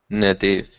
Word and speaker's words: native: Careful, not na, but n. Native.